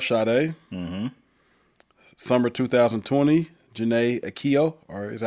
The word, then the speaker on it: Aiko: Summer 2020, Janae Aiko, or is that how you say it? Aiko.